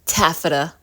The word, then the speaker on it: taffeta: Pronounced taffeta.